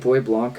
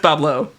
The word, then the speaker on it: Bois Blanc: Wasn't it like Bois Blanc or something? Well, that's the French way, right? But no, that's not the way. Bois Blanc? Nope. Wasn't it Bois something? So far off. Bois Blanc. It's pronounced Bablo. I knew it was some dumb shit like that. Fuck you. It's pronounced Bablo. Fuck you.